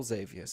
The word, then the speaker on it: Xavius: Although the Nightmare Lord in the dream turned out to be the Satyr Lord Xavius or Xavius is how you say it.